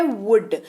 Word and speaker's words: would: आगे बढ़ते हैं, बात करते हैं अगले शब्द की, जो कि है वुड, WOULD, L साइलेंट, उच्चारण वुड।